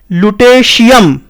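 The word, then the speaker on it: Lutetium: Example देख लो, dictation है, recitation है, देखो यहां पे TI जो है ना, यहां पे श की ध्वनि आएगी। तो ये बेसिकली क्या होगा इसका उच्चारण, लुटेशियम, ठीक है।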